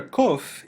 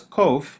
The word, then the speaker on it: qoph: The letter Qoph is pronounced by many Hebrew speakers today like the letter K in king, or like the Hebrew letter Kaph with the dagesh. Originally, this letter would have sounded like the letter K if it were pronounced at the back of the throat, as in the Arabic